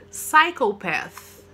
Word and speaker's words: psychopath: Não pronuncia o P. Toda palavra que começa com P e depois vem um S, vocês não pronunciam. A mesma coisa psychology, tá? Então, vocês não vão pronunciar aí o P do psychopath.